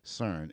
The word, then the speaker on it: CERN: up ceremony on their home page so it's pronounced cern and it's spelled s-e-r-c e-r i've been drinking